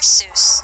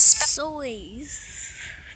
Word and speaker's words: Seuss: Seuss is Soys. Dr. Soys. Oh my god. Like soy sauce?